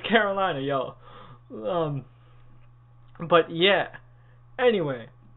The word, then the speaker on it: Karolina: you're all just saying like the author himself says Carolina so it's Carolina yo um but yeah